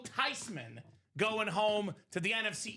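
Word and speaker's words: Theismann: His name is actually pronounced Tyman. It's a German name. The proper pronunciation is not theman. It's not Thyman. It's not Thyman. If you guys want to joke, it is Joe Tyman going home to the NFC East.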